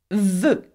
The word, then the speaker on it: veut: The consonant T, for example, which we do not pronounce in French, is veut. Can you say that?